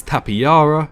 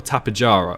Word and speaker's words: Tapejara: The next flying reptile, probably the biggest fan favourite on here, is Tapejara or Tapejara or Tapejara. Loads of people pronounce it differently. I believe it's Tapejara.